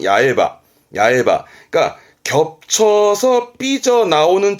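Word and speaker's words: 八重歯: 뭐냐면 여덟 개로 중복입니다 여덟 개로 중복이라 하면 겹친 건데 발음은 야에 하거든요 그래서 발음은 야외바 야바 그러니까 겹쳐서 삐져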